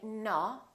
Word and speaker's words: no: People wrongly pronounce this sound as uh. We don't say no, we say no. So it's actually two sounds, it's O and U together.